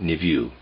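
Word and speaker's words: niveau: i v e auau I'm pronouncing it NIU concerning the word nvo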